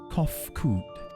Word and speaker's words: Kofkud: As for nomenclature to address my individual person, I believe it would be pronounced Kofkud.